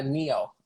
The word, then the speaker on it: Neo: no no uh well in english yeah neo like the matrix i don't know if